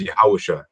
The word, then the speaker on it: Yahawashi: in the name of yahawashi that's the true name of who many know as Jesus Christ but his true name in the Hebrew it is yahawashi so that is how you say the names of the heavenly father